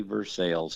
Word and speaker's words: Versailles: So, uh yeah, I'm here in Woodford County uh in Versales, spelled like Versailles, but we say Versailles down here.